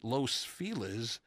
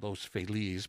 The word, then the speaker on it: Los Feliz: 1937 Clinton's home in Los Feliz I'd like to say Los Feliz but apparently the locals say Los Feliz his home was bombed